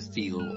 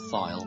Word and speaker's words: Thiel: may know is get Peter Thiel or file depending how you want to pronounce his name he was one of